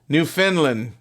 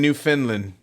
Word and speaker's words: Newfoundland: do is yeah Steve new Finland I know it's spelt Newfoundland but everybody kept saying new Finland when we were there I was in the